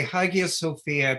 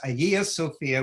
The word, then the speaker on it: Hagia Sophia: of hagia sophia and why he chooses to pronounce the g when the turkish pronunciation is aya um you say tomato